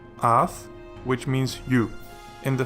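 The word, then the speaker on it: אַתְּ: And then this one, with the Shewa under the final tav, Ath, which means you, in the feminine singular form, so think of you, lady.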